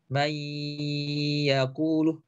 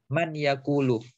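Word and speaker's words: من يقول: Contohnya yang seharusnya dibaca may yaqulu, tapi dia baca menjadi man yaqulu.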